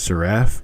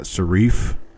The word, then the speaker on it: serif: and it is not Seraph it is not serif the word is pronounced serif it's just like Sheriff only it starts with an S instead of an sh and now coin number